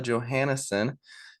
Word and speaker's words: Johannessen: I'm here with Johansson um pronounced the English way uh not the Norwegian way how are you doing